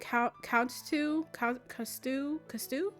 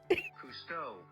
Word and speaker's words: Cousteau: Is it Coustu? Hold on. No, I can't continue on like that. I have to figure out what his name is. Cousteau. Oh, Cousteau. Okay.